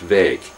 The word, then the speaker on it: Wijk: and I pedantically articulate the Dutch phoneme W-I-J-K is pronounced VAG, and it took me some time to be able to do it.